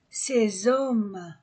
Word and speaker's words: ces hommes: Cette dame, cette horloge, ces classes, ces hommes, S entre deux voyelles, Z, ces hommes, le maître, je pèse, vieux, vieille, vieux masculin, vieille féminin, la longueur, la hauteur, la largeur.